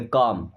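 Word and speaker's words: calm: इसे कॉलम नहीं पढ़ते। काल में नहीं पढ़ेंगे। काम क्या पढ़ेंगे? काम।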